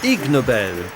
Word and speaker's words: Ig Nobel: Ig Nobel, c'est comme ça qu'on prononce ignoble en anglais.